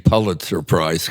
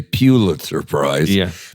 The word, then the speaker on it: Pulitzer Prize: And by the way, thank you for saying Pulitzer Prize, because so many people say Pulitzer Prize, because pronunciation is another area I work in.